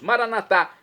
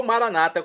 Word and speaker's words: Maranatá: E agora eu clamo também do aramaico, dialeto de Jesus, Maranatá, como dizemos nós católicos, ou maranata, como dizem nossos irmãos, separados, os evangélicos ou protestantes. Não importa a pronúncia, o significado é o mesmo.